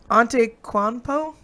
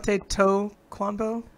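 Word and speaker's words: Antetokounmpo: that one all right auntie Quan PO no clothes that wasn't bad what there's a you've missed a syllable on tape toe quando on Teta comfo on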